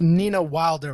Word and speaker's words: Nina Wilder: your name is pronounced Nina Wilder, right?